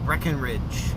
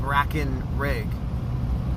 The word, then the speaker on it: Brackenrig: Or is it Breckenridge? No, it's spelled Brackenrig. Unless you say Brackenridge.